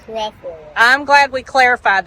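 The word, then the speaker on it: Trefoil: you say that usually some people call it tree foil okay but it's really pronounced Tre foil I'm glad we clar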